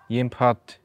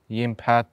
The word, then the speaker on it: Jimpphat: I think you can like say it multiple, like different, like stars, you know, you can call Jimpphat, Jimpphat, Jimpphat, like it's, I don't mind that much, but I think Jimpphat, I would like use it.